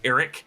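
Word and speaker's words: Arryk: Eric now I know aric and Eric are really just meant to be homophones they're both pronounced Eric but I just pronounce them differently just so you guys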